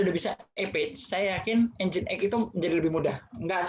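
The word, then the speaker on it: Nginx: Ning tulisannya. Tapi dibacanya Engine X.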